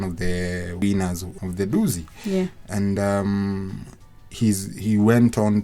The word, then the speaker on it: Dusi: But also it's pronounced Dusi.